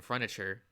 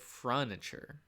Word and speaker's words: furniture: The master's voice and breathing, the slight shift in furniture. I always pronounce it furniture, but that's not where the U is. It's furniture. Okay.